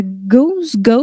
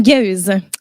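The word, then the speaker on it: gueuze: Et ça inclut les gauzes, Parce que d'origine, là, la gauze, ça s'écrit G-U-E-U-Z-E et non pas G-O-S-E. OK. Fait qu'en tout cas, si jamais ça t'intéressait. Comme une gueuse. Ouais, une gueuse.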